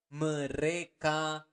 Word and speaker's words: mereka: Mereka makan. Remember to pronounce the R clearly.